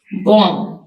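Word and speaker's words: bomb: इसमें double silent है बम बम में बी साइलेंट है जिसको हम उर्दू में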